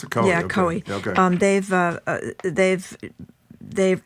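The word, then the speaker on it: Coie: Um, is that how you pronounce it? Co. Yeah. Coey.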